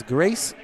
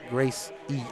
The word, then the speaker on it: Grace: It's Grace, like Amazing Grace, not Grace E.